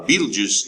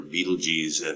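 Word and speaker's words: Betelgeuse: to see barnard's star a beetlejuice is or beetlejs however you want to pronounce it is a very bright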